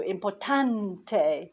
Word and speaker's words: importante: the lessons where um things that end in a n t and e n t so important has an e on and then they stress the last syllable before that e so importante so i've been learning